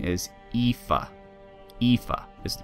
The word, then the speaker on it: Aoife: Aoife is the pronunciation.